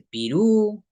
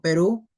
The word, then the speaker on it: Perú: Perú, bueno, Perú también está igual. No se dice Pirú, ¿no?